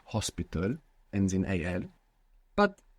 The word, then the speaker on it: hospital: words for example like Hospital ends in Al but it's not pronounced you must imagine that it begins with an O so how would you say hospital hospital see you you